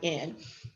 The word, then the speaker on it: Colvin: All right, so Miss Claudette Colvin, I said her name wrong, it's Colvin.